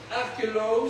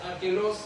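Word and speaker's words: Archelaus: Ça c'est Archelos. Si c'est Archelos, ça s'écrit A R C H E L A U S.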